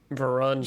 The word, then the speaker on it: Varun: Varun Kachwaha. Varun? Yeah. Varun. Just go with Yeah. it. You usually pronounce it just fine.